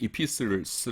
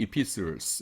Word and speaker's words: Epistles: 그 다음에 이제 공동서신을 영어로 Catholic Epistles 이렇게 부르는데 T는 묵음입니다. Catholic Epistles 이렇게 부르는데 Catholic이라는 것이 로마 카톨릭하고는 아무 상관없어요.